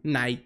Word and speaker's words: Knight: Knight. Se dice Knight. Trae una K ahí, pero Knight.